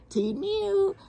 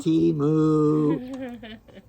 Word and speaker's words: Temu: He says it like a cat. We say it like a cow. T-mew. We say it T-moo.